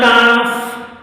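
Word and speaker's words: كاف: দেখুন এটার নাম হলো কাফ কাফ এগুলা হল আলিফ পান হবে কাফ কাফ কাফ এরপরে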